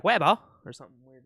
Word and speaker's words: Weibo: This like Chinese, I guess like social media website that they use, Weibo. Oh, Weibo. okay, yeah. I was like, what the fuck are you on about? I don't know. It's probably like Weibo or something weird like that.